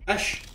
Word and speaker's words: ich: Ish. Right, ick is pronounced ish.